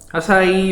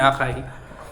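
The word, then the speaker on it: açaí: Um, Asai yung pronunciation diyan e na hindi akay.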